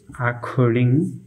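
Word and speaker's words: according: you oblique consonant থাকলে সি সি এর উচ্চারণ হবে ক এর মতো তো ভিউয়ার্স আমি উদাহরণ সমূহের মাধ্যমে বিষয়টুকু আপনাদের সাথে শেয়ার করছি অ্যাকিলস অ্যাকিলস অ্যাকর্ডিং ভিউয়ার্স আমি এখানে দুইটি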